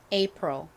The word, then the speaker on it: April: 단어를 에이프릴이라고 쓰고 있습니다 그런데 실제 미국식 발음으로는이 아가 이보다는 어에 좀 더 가까운 발음이나요 그래서 실제 미국식 원어 발음으로는 apr apr 요렇게 발음을 합니다 따라해 보세요 apr 한